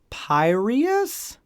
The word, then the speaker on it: Piraeus: Next port of call was Piraeus? It's close. Some people Yay!